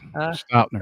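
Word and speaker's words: Stautner: The only other ones are Ernie Stotner. Am I pronouncing that right, JT? And Yes, Stoutner.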